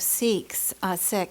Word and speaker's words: Sikhs: And you reminded me of something that some of you may be aware of or not, the experience of Sikhs is the proper pronunciation actually, in the U.S.